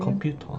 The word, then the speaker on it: 컴퓨터: 컴퓨터. 컴퓨터. Again, there is no R sound in Korean. So in Korean you say computer without the R at the end. 컴퓨터.